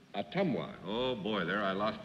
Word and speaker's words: Ottumwa: Miss Carol Morris, of a town that I love to pronounce, Ottumwa, is that right? That's close. Ottumwa. Ottumwa.